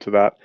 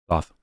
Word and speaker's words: Thoth: Thoth. Yes. Technically, it's Toth, but I refuse that because English is such a fucked up language that why would TH have two different pronunciations in the same word?